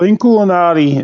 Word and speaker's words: Inkulinati: So Inkulinati, and that's how you pronounce it.